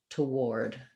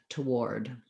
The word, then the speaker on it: toward: doing a tw blend it just adds a little schwa for the letter o so it sounds like toward toward that one might be